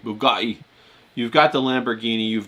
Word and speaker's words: Bugatti: You got to say it like uh Andrew Tate Bugatti.